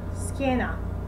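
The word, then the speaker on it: schiena: she and she but we have to put an h between two letters the c and the a and the c and i in order to create this heart sound for example let's say the word scada card scada or the word ski skena back that would be the skena heart sound and once we memorize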